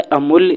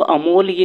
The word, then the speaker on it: अमूल्य: उसी प्रकार होता है अमूल्य जिसको हम अमोल बोलते हैं। तो, अमोल यह सही शब्द नहीं है। अमूल्य सही शब्द है।